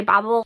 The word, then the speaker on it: Babel: author pronounces it as Babel, because she is from the US. But I will say there is like a nickname within this book of babblers, as in babbling, as in language to babble, like to talk.